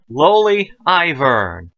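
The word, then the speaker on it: Loly Aivirrne: So, without further ado, let's get pronouncing. So, let's start with Lowly Ivern.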